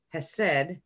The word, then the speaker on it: Chesed: But the pronunciation I was taught is Hesed without the C, Geburah with the pronunciation on the first syllable, which I hear is not correct, and Tifereth in the center.